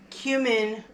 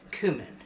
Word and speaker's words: cumin: a teaspoon of cumin some people pronounce it cumin like a cue ball or using the Q letter but since the Spanish version of it is kumino I've started calling it cumin so anyway there's a